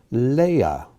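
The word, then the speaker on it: לאה: god the almighty or god the sufficient one leia leia which who was rachel's sister one of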